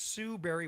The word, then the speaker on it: Barry: Most people think berry is spelled like a fruit or Halle Berry, but no, it's Sue Berry with an A, like soul singer Barry White's first name.